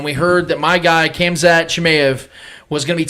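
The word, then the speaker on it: Khamzat: to help you out so the pronunciation is kamza thank you i'm too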